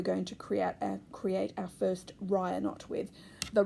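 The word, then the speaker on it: rya: yarn that we're going to create our first rye knot with. The rye knot is spelt R-Y-A, and it's going to go just here.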